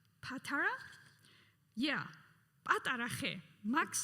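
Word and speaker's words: პატარა: Patara. Patara?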